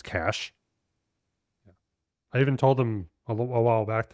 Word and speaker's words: Cache: CA e MH which I know some people pronounce Cas mm it's cash I even told him a a while back